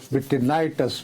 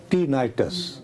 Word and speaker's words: tinnitus: पहली बात ये है कि मेरे से गलत प्रोनाउंस हुआ ये जो बीमारी है कानों में जो हेलीकॉप्टर इसकी आवाज आती है इसको विनाइटस बोला जाता है। मैनेगबन क्या क्या नाम है? टीनाइटस टीनाइटसिटिनाइटस अच्छा इसमें ये होता है कि ये